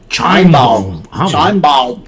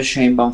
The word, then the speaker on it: Sheinbaum: No, y no solamente ahora sí voy a pronunciar el nombre de Claudia Sheinbaum. Sheinbaum.